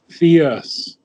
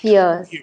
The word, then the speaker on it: fierce: is the way the Indian English would pronounce fierce, but it's just Fierce. Okay. fierce. It's not fear. It's not two syllables. It's one.